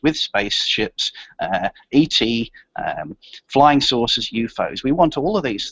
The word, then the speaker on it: UFO: You'll notice that in the story, the term UFOs is pronounced UFOs. We usually say UFO.